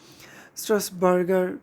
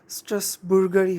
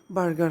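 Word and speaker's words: Strasburger: স্ট্রাসবার্গার বা স্ট্রাসবুর্গার। তবে যদি সঠিকভাবে জিজ্ঞেস করো, এটার আসলে সঠিক যদি ইংলিশে আমরা প্রোনাউন্স করি, স্ট্রাসবুর্গারই হবে, বার্গার হবে না, স্ট্রাসবুর্গারই হবে।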